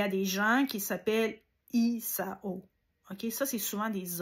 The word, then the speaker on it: Isao: des gens qui s'appellent Isao. OK? Ça, c'est souvent des hommes. Ça commence par la lettre I. OK? Donc, ça se dit Isao.